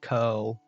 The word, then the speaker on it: Coeurl: there's a creature called I think you pronounce it curl, but it's spelt Coeurl.